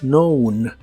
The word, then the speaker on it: known: en el pasado participio es known la k no se pronuncia de nuevo Así que la pronunciación